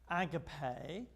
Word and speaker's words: agape: You know, the Greek word there is agape. That's how the English pronounce it. Americans like to say, yeah, which sounds to me like one of those little fish, you know.